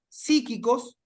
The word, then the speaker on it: psíquicos: se sostiene, los problemas psíquicos es una palabra esdrújula, debería llevar acento en la primera I.